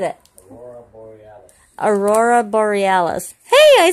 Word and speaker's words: Aurora Borealis: Aurora Bellis? Aurora, how do you say that, Daddy? Aurora, what? No, how did you say it? Yeah, but how do you say it? You just said it. Aurora Borealis.